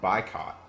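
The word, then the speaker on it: Buycott: get on your smartphone it's called bicot so it's spelled just like boycott but you swap the O for a u and with that app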